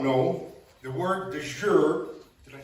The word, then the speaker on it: de jure: For those that may not know, the word de jure, did I say that right?